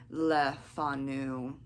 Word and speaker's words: Le Fanu: channel today's book review is Carmela by Sheridan Leu I actually got that pronunciation correct cuz I practiced it at least